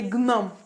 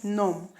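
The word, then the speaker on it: gnome: it will be improper for you to say Gom when it is actually num and we have a word in English that is pronounced as num I go num but the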